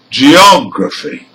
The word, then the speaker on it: geography: Now here, for words ending in CY, TY, PHY and GY, the stressed syllable is the third from the end.